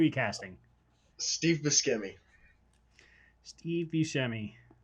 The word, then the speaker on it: Buscemi: casting steve bischemi steve buscemi how do you say his last name is it scary or bruce i say you shemmy are you telling me